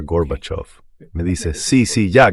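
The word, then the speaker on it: Горбачёв: Bush a pronunciar Gorbachov. Me dice, "Sí, sí, ya, garbage, garbage, ya sabes, Rusia. Tú enseñaste Rusia, ¿cómo se dice? Así que es fácil, señor vicepresidente. Diga basura. Basura. Ahora diga off.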